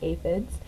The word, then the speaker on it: aphids: It was a pretty sad day when the aphids, pronounced aphids, arrived.